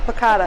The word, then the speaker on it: piccata: Am I pronouncing that correctly? Yep, piccata.